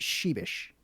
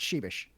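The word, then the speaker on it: Przybysz: there in the chat PR zy b ys z that is pronounced sheepish I get all of that but the first sound yep sorry I can just tell you it's pronounced sheepish like ever the the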